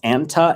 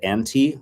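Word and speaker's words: أنت: Anta and anti, the guy-girl thing, the male-female thing, is spelled the same.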